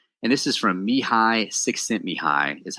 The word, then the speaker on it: Csikszentmihalyi: And this is from Mihai Csikszentmihalyi, is how you say that dude's name.